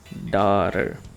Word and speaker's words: Daughter: mother Father brother OK outra palavra que às vezes causa problema Daughter a filha Daughter o GH em inglês no meio das palavras ele não tem som geralmente Ok então e a